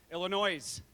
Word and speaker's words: Illinois: I'm told the folks that are traveling from California and South Kakalaki are actually from Illinois, right? I hear the people from Illinois get really mad when I pronounce the S.